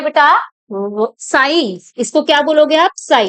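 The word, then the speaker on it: psi: साई। इसको क्या बोलोगे आप? साई। इट इज नॉट पी साई, पी is silent. तो ये है आपका साई।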